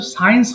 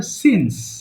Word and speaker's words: since: আচ্ছা, এটা কিন্তু সায়েন্স হবে না, উচ্চারণ হবে সিন্স।